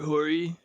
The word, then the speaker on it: Horry: It's like we all know how to pronounce this name. Yeah. Like like Robert Horry.